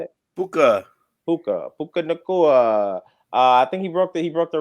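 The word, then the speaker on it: Nacua: Nakua, that's how you say it. Puka Nakua.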